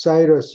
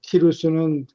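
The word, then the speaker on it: Cyrus: 사람들이 치 키루스 키루스 사이러스 영어로는 사이러스라 그러는데 데 사이러스는이 영국사람 발음이고 키루스는 그리스라들의 발음이고 근데 키루스라는 페르 임금이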